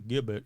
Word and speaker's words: gibbet: Before I get a bunch of people writing to me saying, come on, Kurt, it's obviously gibbet.